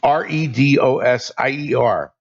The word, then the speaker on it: red osier: The dogwood that I show in that picture, the technical name for it is red osier, which is Redosier, but it's pronounced red osier dogwood.